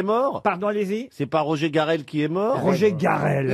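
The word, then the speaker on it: Roger Carel: Roger Garel. Ça se prononce comme ça à la française.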